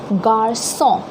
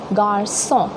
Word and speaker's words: garçon: Now this cédille gives a very smooth and soft pronunciation to C, okay. So for example, here we'll pronounce this word as garçon, okay, and the meaning is boy, okay, garçon.